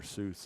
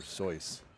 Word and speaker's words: Seuss: I've also heard that it's not pronounced Dr Seuss it's Dr soy you have like I'm